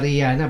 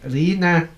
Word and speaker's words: Rina: So I stand corrected na hindi pala Rihanna but Rina yung proper na pagbigkas ng pangalan ni Ma'am Rina.